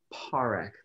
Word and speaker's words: Parekh: Our next candidate is Nisha Parekh. Please excuse if I butchered your last name, Nisha. Actually, you pronounced it perfectly.